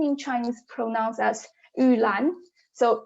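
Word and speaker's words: 玉兰: favored in traditional garden is because it's the pronunciation of its name so it's name in chinese pronouns as ulan so u means jade and lan means orchid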